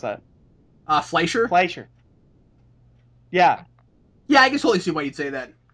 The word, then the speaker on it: Fleischer: pronounce that? Fleischer?